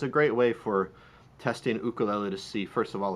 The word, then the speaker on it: ukulele: Second question that comes up a lot is, why do I pronounce it ukulele? And I imagine if I was in a place like Nashville, I might pronounce it differently, just like if I were, different places, they have different accents, and And but it's actually a Hawaiian word.